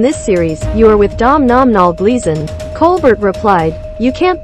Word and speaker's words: Domhnall: Explaining how to pronounce the name Domhnall, Gleeson once said, "It's pronounced like tonal with a D instead of a T, and the M is just there to confuse Americans."